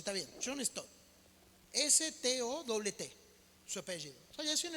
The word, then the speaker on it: John Stott: Soy muy malo para pronunciar los nombres en inglés, pero por ejemplo este hombre se llama John Stott. Así se pronuncia, está bien, John Stott.